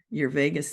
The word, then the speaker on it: Vagus: Like Vegas? Vagus nerve. Vagus nerve. Yep. It's not spelled like Las Vegas.